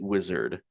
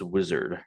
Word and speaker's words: Uizard: Okay, so right off the bat, he is pronouncing it wizard. So yeah, that's how you pronounce it is wizard platform.